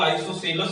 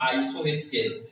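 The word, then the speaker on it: isosceles: बोलते हैं, ठीक है, कोई इसका प्रोनाउंसिएशन करते हैं आइसोस्केल, ठीक है। तो वहां पे आपको अब इसलिए ये नहीं समझना है कि गलत है, नहीं, एक ही चीज है। कोई इसको आइसोसेलस प्रोनाउंसिएशन करता है, कोई इसको आइसोस्केल करता है, ठीक है।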